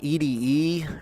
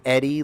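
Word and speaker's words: ED-E: I called him EDE, or I called him Ed D for the longest time, but I'm pretty sure it's pronounced Eddie, lol.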